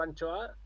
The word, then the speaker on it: anchoa: Claro, Anchoa es sin H y la H no la pronuncia. Bueno, pues si dices anchoa sin H sería ancoa, Ancoa. ¿eh? Pues entonces la H es muda, pero no siempre.